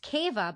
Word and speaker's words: kava: usually very clearly sounded, the word kava pronounced keva by the less educated classes, owing to the syllables being equally stressed.